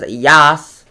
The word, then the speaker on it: Yaas: It is classified as severe tropical cyclone Yaas, pronounced as Yaas. I pronounced as Yaas.